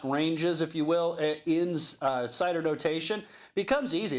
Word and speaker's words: CIDR: notation so I suppose we're not talking about something made out of apples right yeah it's a little bit different but it's pronounced the same right when we say cider again we're talking about